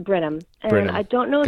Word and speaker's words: Brenham: That's what it looks like, and it's pronounced Brenham.